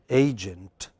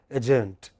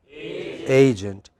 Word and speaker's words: agent: syllable is prominent a so how do we pronounce it agent but you know many of us by mistake pronounce it agent that's that's not correct what is it agent in the next word